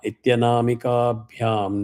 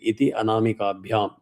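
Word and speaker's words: इत्यनामिकाभ्याम्: Brahmati Madhyamabhyam namaha Suvarnabindurakshobhya Ityanamika bhyam namaha If you don't know how to pronounce it Ityanamikabhyam When it is combined it becomes Ityanamikabhyam namaha Suvarnabindurakshobhya Ityanamikabhyam namaha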